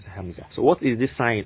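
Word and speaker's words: همزة: be easy for you just call it hamza if you see alif and above it is hamza is called just pronounce it as hamza so what is this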